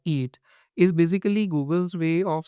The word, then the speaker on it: EEAT: Yeah, so eat, EEAT, and we pronounce it as eat, is basically Google's way